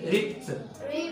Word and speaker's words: ripped: اي كلمه اي فعل اخره صوت بي لما بنحطها الاي دي بتنطق تي، تبقى ريبت.